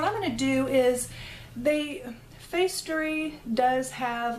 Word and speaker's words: Facetory: I think it's pronounced Facestory because to me that's like factory but with an E in it.